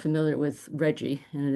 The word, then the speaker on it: RGGI: And so maybe I should just for those of you who are not familiar with Reggie and it's RGGI pronounced Reggie, it's now up to